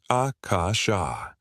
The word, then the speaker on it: Akasha: The most powerful of these is the sound Akasha. Pronounce each syllable slowly, allowing the vibration to resonate through your entire body. The A opens the heart center, the Ka activates the third eye, and the Sha connects you to the cosmic field.